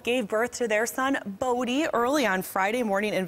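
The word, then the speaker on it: Bodhi: Miller's wife, actress Noreen DeWolf, gave birth to their son, Bodie, early on Friday morning in Vancouver.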